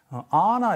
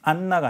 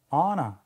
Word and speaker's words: Anna: 근데 이제 그 원어 영어를 영화를 보신 분 애니메이션을 아나 이렇게 발음하죠. 안나가 아니라 아나 그죠? 네. 그렇습니다. 발음 자음을 하나만 하는 거예요.